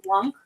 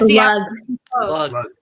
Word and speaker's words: Lug: It's Lug. Lug. So like a very generic douche. No, but it's like spelled like Lung. It's like lung. It's LLUG. Lug.